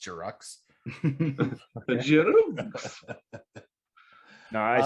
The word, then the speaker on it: Giroux: Pretty sure it's pronounced Giroux.